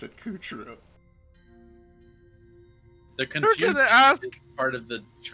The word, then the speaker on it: Coup Troop: Troop, but we pronounce it Coup True.